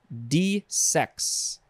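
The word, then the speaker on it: desex: next word changing gears this word is D sex and the emphasis is on the the second syllable dissects transitive yeah transitive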